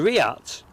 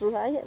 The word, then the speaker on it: RIAT: Oh, the RIAT, Oh, right, Royal is it- International Air Tattoo. Oh, right, so I take it it's not pronounced riot then.